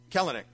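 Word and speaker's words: Kelenic: Gorman versus uh Jared kalenic it says how you say his name yeah colony in the 23 or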